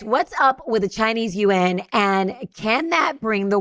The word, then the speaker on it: yuan: That's not, I always hear people say yen. And so I was like, I'm going to learn how to say this correctly. And it was like, yuan. And so I was like, I'm going to say it right. It's yuan.